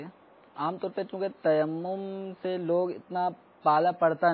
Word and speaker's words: تیمم: پڑھ ہی دیتے ہیں، تو اب تیمم کو تیمیم بھی پڑھتے ہوں گے۔ تو اصل یہ لفظ تیمم، اور الحمدللہ امیر اہل سنت کے جو کتب اور رسائل کے اندر یہ تلفظ کی درستگی کا اہتمام کرنے کے لیے اعراب کی بھی ترکیب بنائی جاتی ہے تاکہ اسلامی بھائیوں کو پڑھنے کے ساتھ ساتھ درست تلفظ ہے، درست تلفظ کرنا بھی آتا ہے۔ تیمم اصل لفظ ہے۔ تو ابھی تیمم کے